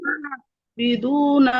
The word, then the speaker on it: عابدون: তাহলে এখন শুধু আপনি খেয়াল করবেন আবিদুনা শব্দটা, আবিদুনা আইনটা কেমন যেন শোনা যাচ্ছে, হামজার মতো কেমন জানি। এটা ক্লিয়ার করতে হবে খুব। আবিদুনা আবিদুনা আইনের উচ্চারণ একবারই হয়, এরকম না যে প্রথমে হামজার মতো পরে আইনের মতো, এরকম না, একবারই ডিরেক্টলি আইন উচ্চারণ করতে হবে।